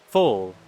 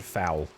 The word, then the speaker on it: foal: Foal. It's foal. Okay. For some reason, I think I've always said foul, because that just seems like a dumb word.